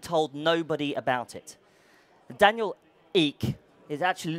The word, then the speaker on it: Ek: nobody about it Daniel eek is actually looks like Eck but it's pronounced eek had raised 70 million